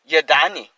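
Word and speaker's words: ידעוני: Yadani. Oh, I'm pronouncing the Ain, which is the proper ancient Israelite pronunciation, just like in Arabic.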